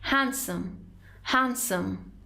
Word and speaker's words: handsome: هستن رو ما میگیم handsome. D is silent.